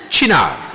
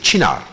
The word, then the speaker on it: Cynar: can I ask everybody to pronounce Cynar? Cynar. Cynar. Not Cynar. Not Cynar.